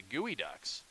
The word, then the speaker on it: Geoducks: it appears that the the mascot for our opponents here tonight is actually the gooey ducks and I am pronouncing it wrong as here's kav